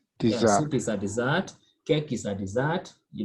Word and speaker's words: dessert: This is A, not A. Dessert. T silent. So you say dessert. Dessert. Yeah. Dessert. So soup falls under? Soup is a dessert. Yes. Dessert. Yeah, soup is a dessert.